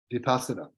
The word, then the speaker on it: vipassana: of meditation yeah well there's two ways of pronouncing it if you if you pronounce it in the Sanskrit it's vipassana Buddhism is mostly concerned with the Pali Lane which Pali language it's vipassana okay inside and so